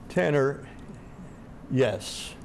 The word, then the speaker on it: Tanner Yess: of this station or the program's Underwriters Tanner yes correct pronunciation yes yes Tanner yes is my guest